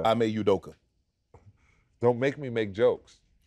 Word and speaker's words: Ime Udoka: say his full name I make edoka oh really yudoka yeah I'm a udoka don't make me make